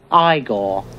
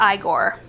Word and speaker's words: Igor: It's pronounced Igor. Yeah, it's pronounced Igor.